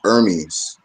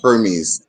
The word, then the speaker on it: Hermes: Another way of pronouncing is Hermes or Hermes.